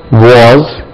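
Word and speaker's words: was: ஆர் வாஸ் வர் இதுவும் வாஸ் z தான் உச்சரிக்கணும் வாஸ் இது இப்படி உச்சரிக்கணும் வாஸ் வாஸ் வாஸ் இல்ல வாஸ்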